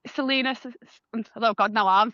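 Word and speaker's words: Celaena: So I felt that the main character, I'm probably going to pronounce it wrong, but in my head it was Kalena. It's Selena.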